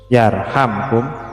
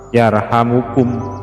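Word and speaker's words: يرحمكم: Nah, yarhamkum ini bacanya ada dua versi. Ada yang bacanya dengan yarhamkum jazm, ya, disukun karena menjadi jawab dari irhamu man fil ardi. Ada juga yang membacanya dengan di domah, di rofa, yarhamukum, begitu, dijadikan bukan jawab tetapi menjadi doa.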